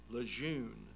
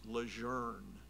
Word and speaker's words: Lejeune: and there I learned something else when you pronounce Lejeune as in camp lejeune in the Marine Corps